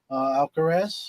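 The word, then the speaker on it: Alcaraz: Uh Carlos Alcaras Alcarez.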